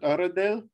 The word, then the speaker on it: Uradale: always wonder you see we pronounce it auradell for a long